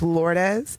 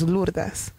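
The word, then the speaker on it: Lourdes: In English it's lordes. In Spanish it's lures.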